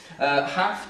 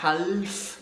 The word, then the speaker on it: half: Half, tu ne prononces pas le L, c'est pas half, non, non, c'est half.